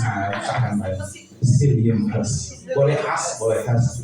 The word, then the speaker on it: psyllium: Nah, ini bacanya dihilangin ya, P-nya ya. P-nya dihilangin. Jadi jangan baca Psyllium husk. Nah, usahakan baca Psyllium husk.